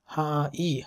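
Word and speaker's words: はい: সো আনাতা ওয়া মাইকো মীরা সান দেশকা হাই, যেখানে হাই উচ্চারণটা এরকম হা ই হাই, ওয়াতাশি ওয়া মানে আমি, ওয়াতাশি ওয়া, ওয়াতাশি ওয়া মাইকো মীরা দেশ।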